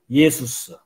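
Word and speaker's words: Ἰησοῦς: 좀 더 정확한 발음은 이게 헬라어거든요. 그 그리스 사람들은 예수님을 어떻게 발음했냐면 예수스. 그리고 그리스도는 크리스토스. 예수스 크리스토스.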